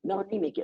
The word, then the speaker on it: melanic: say it's melanous no Mel melanic is melanic I don't want that extra syllable in there I want melanic and